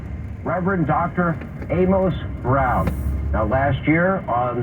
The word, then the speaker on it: Amos: icon Reverend Amos Brown note how I correctly pronounce the man's name Amos because anyone familiar with the man or who has read the Bible knows how to pronounce Amos clearly Sean Hannity is